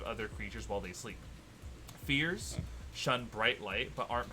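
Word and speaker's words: Feyr: so this is not it's spelled uh f-e-y-r but it is pronounced fear a fear is a tentacled horror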